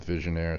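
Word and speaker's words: Vigenère: this leads two the visionaire cipher where's the accent the accent is on the is that it's on the second e there's three e's here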